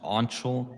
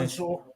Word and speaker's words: Anshul: Also, my name's pronounced Anshul, by the way. Ansel.